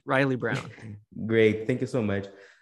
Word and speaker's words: Reilly Brown: pronunciate your name in the right way? Yeah, that's it. Riley Brown.